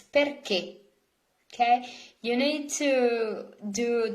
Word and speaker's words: perché: translation of why, perché, there is an accent on the final E, perché. If you do not put accent, you would read this as perché, and it's not correct. It's perché.